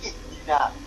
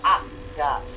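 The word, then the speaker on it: اهدنا: Kenapa kita terbiasa bacanya ihdina? Kok tidak ahdina? Kok tidak uhdina? Ya karena huruf ketiganya kasroh. Karena dalnya kasroh, alifnya ikut kasroh. Maka kalau diharokati, alifnya harokatnya kasroh, berbunyi ihdi.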